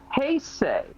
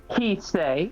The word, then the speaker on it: Heisei: It is pronounced Heisei, not Heisei.